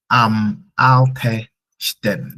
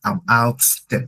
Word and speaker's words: ältesten: Okay, so that's why it's ältesten, not altsten.